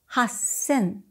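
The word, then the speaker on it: 八千: 3,000, 三千 , 8,000, 八千 . Again, there is a silence before 1,000.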